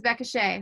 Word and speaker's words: Beckah Shae: they follow you on social media everything is becca shea so becca for everybody that don't know how to spell that b-e-c-k-a-h-s-h-a-e there you go rebecca we're about